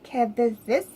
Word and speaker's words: Kravitz: Lucas Till, Angel, who is played by Zoe Kravitz, I believe is how you say her last name.